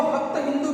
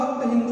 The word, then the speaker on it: हप्त हिंदू: एक ही बात है, लेकिन इसको पारसी लोग जो थे वो हप्त हिंदू कहते थे। कारण क्या था? क्योंकि उनके उच्चारण में थोड़ी सी समस्या थी। क्या समस्या थी? वह स का उच्चारण हमेशा ह के रूप में करते थे, तो स को वह ह बोलते थे। इस कारण से सप्त सिंधु को वह हप्त हिंदू बोलने लगे और इसी कारण से